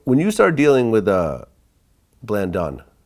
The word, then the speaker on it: Blandon: So when you started dealing with Blandon, how do you pronounce the name? Blandon.